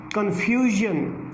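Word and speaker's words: confusion: कन्फ्यूजन, ये specific rules हैं, आपने उनको माइंड में रखना है।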